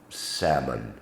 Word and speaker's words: salmon: L is often silent when included within the word, as in almond, calm, chalk, palm, salmon.